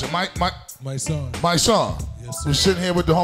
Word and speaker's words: MYSSONE: How do you pronounce it? MYSSONE.